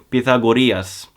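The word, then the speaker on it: Pythagoras: by the Greek philosopher Pita gorillas where he actually spoke about vegetarian diets yes that's how you pronounce it well it's a vegan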